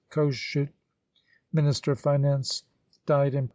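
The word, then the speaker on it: Kossuth: president of the ministry kosuth pronounced kosciut minister of finance died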